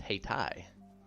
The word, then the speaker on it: Haiti: we also have a Haiti but there it is pronounced hati so hard for me